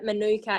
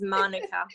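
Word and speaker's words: mānuka: any kiwis Michelle yes Rob young assured us that even though the Aussie say Manuka it is Monica thank you very much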